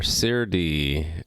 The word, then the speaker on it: Serde: i'm working on saturday serde or cerdy or however you want to pronounce it custom serialization code in